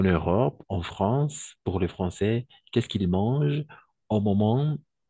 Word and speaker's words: Français: va ça fonctionne alors ici les Français d'accord pas François français tout simplement la combinaison des voyelles a et i on va prononcer toujours comme a ETI on va prononcer